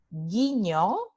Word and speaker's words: guiño: Guiño se escribe G-U-I en la ortografía convencional, pero en la transcripción usando fonemas se escribe G-I. Entonces, G, ¿verdad? Las letras G-U representan solo el sonido G.